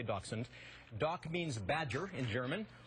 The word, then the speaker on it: dachshund: will say Dawson there's all kind of different pronunciations dash-mounted you'll hear but all I'm going to say dachshund doc means badger in German Huntington means dog